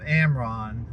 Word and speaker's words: AMRRON: And one way I'm going to recommend that you do that is if you're not a member of AMRON, and that's spelled AMRRON, and I'll put a link up, then you need to join AMRON.